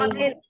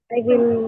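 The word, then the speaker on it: I'll: आई आइल, आइल, आई विल आई है ना? हाँ आइल, सिंपल आइल या आई विल भी बोल सकते हो, जरूरी नहीं है कि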